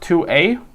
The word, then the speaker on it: Tuohy: So it's pronounced 2A, but it's called a Tuohy needle, Tuohy, Tuohy needle.